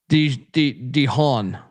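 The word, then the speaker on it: DeJon: Because I pronounce it like Mahan. Dehon Brissett, 6,600.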